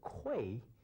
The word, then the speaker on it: Cui: My surname is Cui, which is spelled as C-U-I with the Chinese pinyin, and I was known as Mr. Kui when I was in Los Angeles.